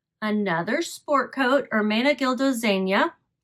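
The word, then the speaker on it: Zegna: sport coat ARA gildo Zena my understanding is that's how you say it Z GNA a is Zena it's Italian Armena gildo Zenia cloth and I have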